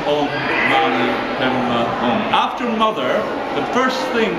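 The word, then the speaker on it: Om Mani Padme Hum: mantra, his prayer, which is very simple, it's pronounced by them Oṃ Maṇi Padme Hūṃ, Oṃ Maṇi Padme Hūṃ.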